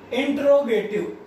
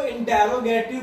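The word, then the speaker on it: interrogative: Third is इंट्रोगेटिव। कुछ बच्चे इसको इंटेरोगेटिव बोलते होंगे, या आपके टीचर ने भी शायद आपको इंटेरोगेटिव पढ़ाया हो, लेकिन इसकी जो एग्जैक्ट प्रोनाउंसिएशन होती है इस वर्ड की, दैट इज इंट्रोगेटिव।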